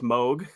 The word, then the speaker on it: Moog: Bob Moog himself, he said it's pronounced like Vogue.